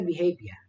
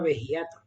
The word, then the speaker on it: behavior: Esto se pronuncia behavior, es una forma rara. Había un alumno de hace unos años que le llamaba vejiato, que me hacía mucha gracia.